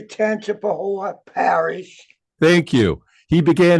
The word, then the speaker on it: Tangipahoa: And you were born in January 28th, 1944, birthplace Independence, Louisiana, hometown Hammond, out of how do you pronounce that one, Parish? I would say Tangipahoa Parish.